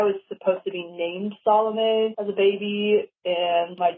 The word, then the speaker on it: Salome: Sure, the band name is Salomé Songbird, and the name Salome is like an old biblical name, but it was really popular like in the 1800s, and I was supposed to be named Salome as a baby, and my dad intervened and